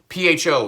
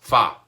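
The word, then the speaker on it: phở: You know, PHO is not actually pronounced pho. It's actually, well, how's it pronounced? How's it? Yes, fa. Yep, you got it.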